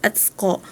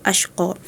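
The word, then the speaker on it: الأشقى: Tapi tadi a raka bacanya atqo itu ketukar dengan surah alail. di surat Allail juga ee dengan bunyi yang sama. Cuman kalau di surat Allail itu atqo, sedangkan di surat Ala'la itu asyqo.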